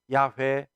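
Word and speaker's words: 야웨: 확 7을 시켜 주셨습니다 그 이름을 발음하면 야외 입니다 야외는 모세에게 떨기나무 불꽃으로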